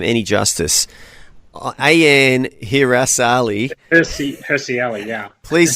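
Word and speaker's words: Hirsi Ali: Stephen how how do we say a name hery Ali yeah awesome pronunciation there well done yep she's a a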